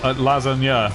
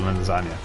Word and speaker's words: lasagna: going no okay no see again lazar that's not how you say it you emphasize the second syllable lasagna we need something it